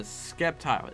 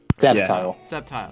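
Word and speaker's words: Sceptile: of Sawyer and uh skepti is am I pronouncing right skepti septile there we go of Mega Evolution honestly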